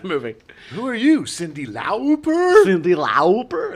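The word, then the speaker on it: Lauper: between Madonna and Cindy laer uh yes that's how you pronounce it if you watch uh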